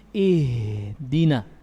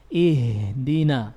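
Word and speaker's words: اهدنا: Makanya ketika kita membaca ihdinas sirata, ini ihdina, suaranya ngalir, juga napasnya ngalir. Sifatnya rakhawa dan hamas. Ihdina, jangan ihdina, ini hilang sifat rakhawanya.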